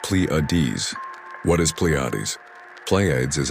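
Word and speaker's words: Pleiades: I'm talking about the Pletes which is pronounced pleades.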